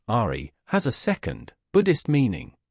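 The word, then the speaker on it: 愛: a central Force curiously the Chinese ideogram for the word love which in Japanese is pronounced Ari has a second Buddhist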